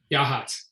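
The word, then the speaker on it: Yachats: Rick wants to know, does Oregon State have any wind and temperature sensors along the Oregon coast, particularly at Yakuts? Is that how you pronounce it? Yahats. Yahats.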